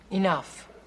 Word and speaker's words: enough: his form is big enough what see the GH at the end of that word that's pronounced like an F if they want it